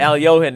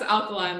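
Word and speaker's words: Alekhine: Al-Johan. Did you know that? What? No. No. Al-Johan. Al-Johan is the actual way to say it, but it's spelled Alekhin.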